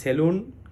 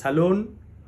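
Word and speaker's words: salon: লোন বলি তাহলে হবে ইটস লোন ইটস লোন ঠিক সালোনটাও এরকম এস এ এল ও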